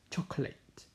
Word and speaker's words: chocolate: So the correct pronunciation is chocolate, chocolate, bukan chocolate, okay, chocolate, chocolate.